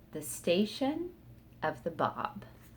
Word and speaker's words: Báb: new to this name the bob it's spelled b-a-b with an accent over the a and it means the gate it's a title that